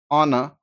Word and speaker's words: honor: told you, are, honest, honor, vehicle, vehement, in all these words H is silent.